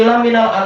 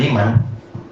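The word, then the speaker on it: لَمِنَ: Inni laminal ansar." Sesungguhnya saya termasuk dari orang ansar. Wa inna abi laminal ansar. Ini paling salah harakat ya. Lamin bukan liman.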